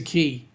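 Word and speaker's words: Cay: Key, it's pronounced K. No, it's not. You Americans stuff everything up. It is a key. As in Denise is going key, not K.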